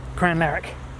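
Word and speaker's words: Crianlarich: little adventure okay so this is crayon laric they pronounce it and it's the original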